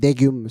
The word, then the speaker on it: Daegeum: She had lent me this CD, and it had some Daegeum. And I don't. Again, I might be pronouncing it wrong. I think she pronounced it Daegeum, something like that.